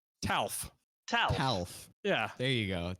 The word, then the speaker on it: Talf: Talf. Talf. Talf. Yeah. There you go. There like you Alf, go. Like Alf from the TV show, but with a T. Talf. I'm sorry. There Talf.